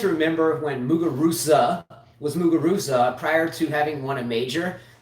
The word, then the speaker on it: Muguruza: all of a sudden everyone was pronouncing her last name like with a th instead of a z now i get it's a spanish thing carla's that and carla